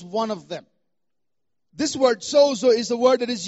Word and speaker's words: sozo: in the past it's about the Greek word Soo uh if you want to spell it down write it down in English you